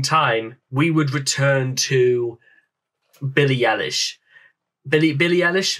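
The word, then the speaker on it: Billie Eilish: a very long time we would return to Billy Ellis Billy Ellis Billy eilish that I think that's how it's pronounced now the uh the first video that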